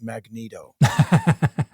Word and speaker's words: Megiddo: It's pronounced Magneto.